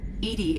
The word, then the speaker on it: EDI: are you named Edie Edie is the phonetic pronunciation of e d i that is an acronym